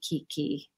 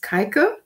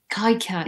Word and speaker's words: Keike: problem really but um my name is actually pronounced kaiko kaika yeah it doesn't no it doesn't matter it's probably a bit hard for English speakers um but anyway um